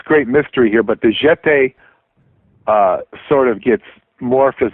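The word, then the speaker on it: Getae: basically telling me about the ancient Jete, the jet call them like the Jets. Jete, spelled with a G.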